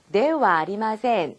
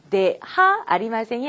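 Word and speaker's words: ではありません: 자, 지금 네 다음에 있는 글자도 원래는 하죠? 하지만 제가 뭐라고 읽었죠? 와라고 읽었죠? 자, 부정 표현 만들 때, 자, 요것도 네 하 아리마센이 아니라 네와 아리마센 이라고 하시면 됩니다. 아시겠죠?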